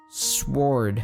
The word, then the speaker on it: sword: Sword. Sword. So there's a silent W in sword.